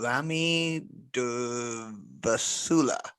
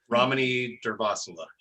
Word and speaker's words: Ramani Durvasula: Rami Durvasula. Ramani Durvasula. Yes. Yeah. Or the way that I pronounced it.